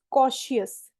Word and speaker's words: cautious: It's cautious. Cautious. इसको देखो, spelling देखो, CAUTIOUS. तो जब भी टी, सो जनरली TIOUS या फिर TION जैसे कॉन्टिन्यूएशन, तो इसमें हमेशा श का साउंड आता है, श, श एज इन